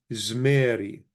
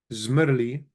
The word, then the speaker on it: zmeri: So zmerli becomes zmerri, and then the vowel is lengthened and it becomes zmeri. Zmerli, zmerri, zmeri, and this is the final product. This is the way many Chaldeans pronounce I sang, zmeri. So this vowel is lengthened, the lemeth is silenced.